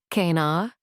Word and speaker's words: knarr: The Nar, pronounced Kanar, was the unsung hero of the Viking age.